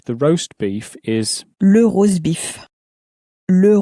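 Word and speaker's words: rosbif: The roast beef in French, the roast beef is le rosebif, le rosebif, so it sort of sounds like, it sounds a bit like the English but pronounced in a very French way.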